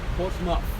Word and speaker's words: Portsmouth: Is it how do you pronounce that? Portouth. Portsouth. Portsmouth.